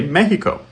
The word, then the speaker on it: México: This is even true when we use an endonym like Mexico, whereas an average Spanish speaker would say México.